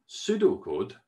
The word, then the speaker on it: pseudocode: a thing called pseudocode pseudocode actually has a silent p and a silent e at the beginning making it quite a challenge to say the thing never mind write it so pseudo code is